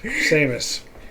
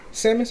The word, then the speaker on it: Samus: think I was just today I can't remember Seamus Seamus says hey say her name who Seamus Oh Sam's that was my character on smash bros yeah Samus Aran she's really good she was she's a